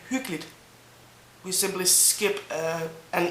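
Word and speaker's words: hyggeligt: and it has been cozy actually when you pronounce hulit the way it is spelled and as you should pronounce it it is called hulit but in normal day-to-day speak uh we just say hooklet we simply skip uh an e really h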